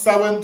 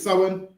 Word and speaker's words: Samhain: or astronomically important times of the year including Sam Hayne. So it's spel but it's pronounced sin. So that word is sin.